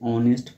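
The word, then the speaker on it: honest: हम इसको क्या पढ़ते हैं? ऑनेस्ट पढ़ते हैं। एच क्या होता है? साइलेंट।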